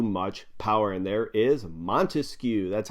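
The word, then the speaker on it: Montesquieu: come on from France three syllables in his last name three words yeah you know it Baron D monu and this was developed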